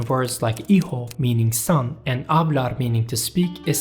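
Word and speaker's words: hablar: In modern Spanish, the letter H is not pronounced.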